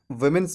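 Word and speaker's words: women's: तो वोमेन्स college बोलना गलत है, इसे हम वोमेन्स कॉलेज के जगह पे विमेंस कॉलेज बोलते हैं। क्या बोलते हैं, विमेंस कॉलेज।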